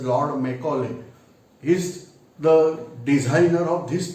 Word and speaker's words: Macaulay: You are aware that Lord Macaulay, some people are saying Macauley, but the spelling pronunciation is Lord Macaulay.